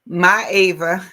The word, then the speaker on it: Myava: Myava.